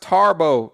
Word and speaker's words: Thabo: Thabo, pronounced Tarbo. There's no R in the way you pronounced it, which confuses me.